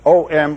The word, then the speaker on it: Om: Om pronounced starts in the back of the mouth, then fills the mouth cavity, oo, and closes at the lips, When properly pronounced, you have made all the noises.